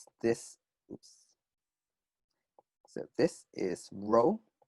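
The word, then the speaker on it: rho: simple okay and this oops so this is row pronounced row it's a greek letter for r um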